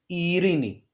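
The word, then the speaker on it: Ειρήνη: For example, Ilias, okay, and here we have one diphthong, epsilon iota at the beginning, e, ri, a second e sound, ni, Irini, okay.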